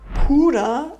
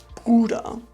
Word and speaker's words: Bruder: So hört man manchmal Puder statt Bruder.